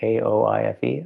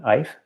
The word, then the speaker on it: Aoife: How do you pronounce that? A-O-I-F-E? Ife?